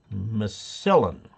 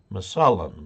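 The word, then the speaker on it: Massillon: Smo in Missoulian missilian it's not Spanish micellin Ohio that's my salon masalam the way we pronounce it your show is great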